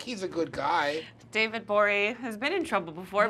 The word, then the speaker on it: Gborie: At the G is silent. David Gborie with the G.